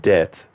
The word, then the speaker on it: debt: yeah like the word debt when you owe something why does it even have to have the b in it just spell it d t you know the way